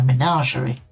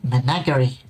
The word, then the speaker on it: menagerie: around adventuring with a menagerie. I know how to say that word. I very nearly didn't say it correctly. Very nearly said it menagerie, which is Weird.